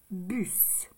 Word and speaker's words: bus: Donc, les espaces bus. Bus. C'est B, U et S. Ici, on entend bien le S.